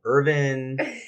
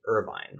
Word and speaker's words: Irvine: different neighborhoods right like how do you say irvine is it urban ivan it's irvine it's irvine and you probably have